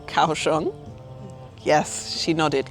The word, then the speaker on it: Kaohsiung: Lily has brought me to a viewpoint of her city, which I finally learned to pronounce. It's called Kawong.